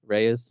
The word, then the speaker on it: Reyes: sativa and how you say your last name Reyes Rey oh that's easy sativa Reyes and you know your named after the plant